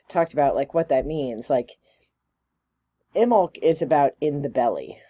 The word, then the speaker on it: Imbolc: Imbolc, or the B is silent, so Imbolc, right?